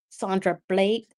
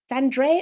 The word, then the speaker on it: Sandre: Sandra Blake, it's a unique way of spelling Sand. Um, did I pronounce your name right? Sandre. Oh my god, I mispronounced your name. Wow, I am so sorry. Sandre Blake. I thought I said Sandra Blake, but spelled uniquely.